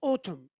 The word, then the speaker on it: autumn: the first one is autumn so the N is silent of course for the second one